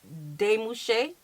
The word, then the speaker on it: Demouchet: I know y'all gonna say we're pronouncing it wrong, but we pronounce it the way it look. Facts. Okay, Yeah. so we do know that it's Demouchet.